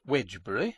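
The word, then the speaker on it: Wednesbury: Wsbury, pronounced Wedgebury and spelled Wedner's Berry in Doomsday Book, stands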